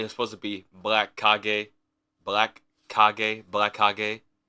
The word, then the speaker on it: Kage: I know it's not Black Age. When I thought about it the first time, it was supposed to be Black Kag.